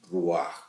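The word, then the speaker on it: רוח: O sea que El texto, la palabra espíritu en hebreo realmente diría es ruaj. Y exhaló Isaac el ruaj, o sea, el espíritu, y murió.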